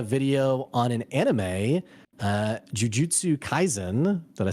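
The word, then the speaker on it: Jujutsu Kaisen: put out a video on an anime uh Jiu Jitsu Kaizen did I say it right nailed it yeah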